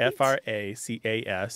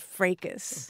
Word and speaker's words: fracas: I say fracas. I thought everybody said fracas. But they say fraca with a silent S. In Britain, yes, they say fraca. Also in this country, you can say fracas.